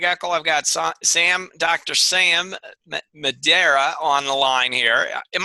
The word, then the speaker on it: Madeira: Sam Madeira on the line here. Am I pronouncing your name correctly? Yeah, Madeira.